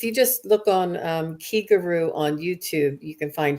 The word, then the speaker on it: Kiguru: the same syllable as the key in Reiki it means spirit and